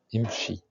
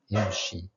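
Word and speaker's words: امشي: La lettre Shin, Shin à la fin d'un mot, Imshi, Imshi, marche. Donc, comme l'exemple qu'on vient d'avoir, ici le Aleph ne se prononce pas comme d'habitude, parce que c'est au début d'un mot, au début d'un verbe, on va voir ça plus tard.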